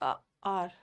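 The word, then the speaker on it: hour: Their meeting lasted for almost आवर। एन आर होगा ना, आर में एच साइलेंट होता है, अ आ रहा, एन आर इजी वाला है।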